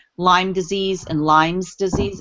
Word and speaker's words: Lyme: like Lyme disease and Lyme's disease. It's really Lyme. There is no S because the town is Lyme, like Tay said, right? It is not Lyme's. So it's people say Lyme's, but it's Lyme.